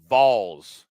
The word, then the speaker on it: Vols: Vols, not Vols. They get upset when you mispronounce. Like ball, put a V in front of it. I know it's weird. I know it's that Tennessee accent.